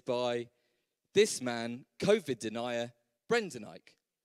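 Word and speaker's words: Brendan Eich: this man covered denier brendanike so one ike and the other one e i c h easily done obviously so same phonetically um if you want to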